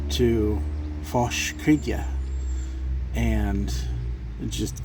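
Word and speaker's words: fàs: Gaelic or Scots Gaelic, the word fosh, and it's F-A with an S, so but it's pronounced fosh, and in Old Scots it means emptiness or void, and in modern Irish it means growth.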